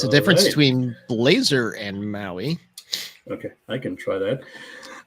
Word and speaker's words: MAUI: is multi-platform app ui the p is silent because maui sounds so much better than empower right now maui is